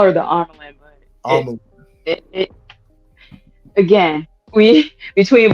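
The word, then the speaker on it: Amyrlin: So I call her Amelin. I'm pretty sure that's how it's pronounced.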